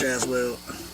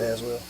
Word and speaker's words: Aswell: But Josh Aswell, I said Aswell. Did I say that right? Josh. It's Josh Aswell. I said it right. I said his last name right.